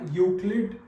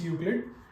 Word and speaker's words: Euclid: यूक्लिड is its pronunciation, कुछ और बच्चे कई कुछ और बोल देते, but please remember it's यूक्लिड।